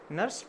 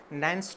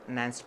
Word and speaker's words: Nernst: We used to pronounce it like Nernst potential, but since it is a German word, the correct pronunciation is perhaps Nernst potential.